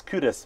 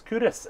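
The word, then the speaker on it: Kirkcaldy: places in five um one is cudas but it's spelled k Ros and every you know even even folks from from Glasgow you know they didn't know it's cudas if you're from um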